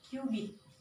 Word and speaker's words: cubit: Jadi, masyarakat Mesir dulu mengukurnya itu dengan menggunakan satuan kubit. Tulisannya cubit ya teman-teman, tapi di sini kita bacanya kubit.